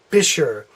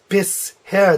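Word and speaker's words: Fischhaar: begins with H but you don't pronounce it Fisher it's bists hair they're separated so it's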